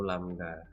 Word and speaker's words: lambda: Ya, panjang gelombang atau lambang seperti ini kita bacanya lambda ya.